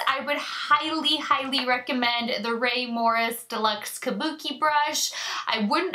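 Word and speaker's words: Rae Morris: Now, when you're looking at the Ray Morris, it is spelled R-A-E Morris, and it's always listed in my brushes used in my description bar down below.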